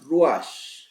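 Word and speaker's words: רוח: La palabra espíritu, a la cual se le marca una diferencia también, se pronuncia ruach, pero igual la terminación SH en el hebreo se pronuncia como una J y se diría ruach.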